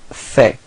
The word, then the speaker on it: fait: So il fait. Same pronunciation, so final T is not pronounced.